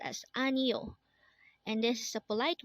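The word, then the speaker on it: 아니요: book next word is anio again this is pronounced as anio and this is a polite way of saying no in Korean again anio is No next word is and this is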